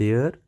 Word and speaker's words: der: के होते हैं एक को हम कहते हैं यर स्पेलिंग है डी ई आर दूसरे को हम कहते